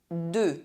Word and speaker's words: deux: The fire Bleu Blue EU is pronounced [ø] if followed by a silent consonant at the end of a word Honteux Disgraceful Deux Two EU is pronounced